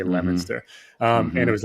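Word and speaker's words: Leominster: So I'm from this town originally called Lemonster and it's it's it's pronounced Lemonster, but it's actually spelled Leo Minster. L E O M I N. Leo Minster. They say Lemonster.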